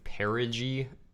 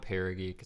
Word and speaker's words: perigee: word tripping up - it's actually perigee not para geek I pronounced it perigee and I was like